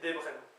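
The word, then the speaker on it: debriñ: Je pense que oui, puisque comme le verbe manger, devren, ça s'écrit debrin, mais ça se prononce en le tilde debren.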